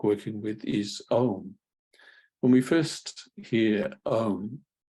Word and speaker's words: Om: like working with is OHM when we first hear um um we we see it often or it's spelled as o m but we can think of it as comprised of a u n and one of